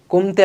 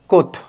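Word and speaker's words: Comte: নামটা খেয়াল করছো কমতে লেখা হয়েছে লেখা হয় কমতে কিন্তু উচ্চারণ করা হয় কোথ পরবর্তীতে পরবর্তীতে দেখি এটা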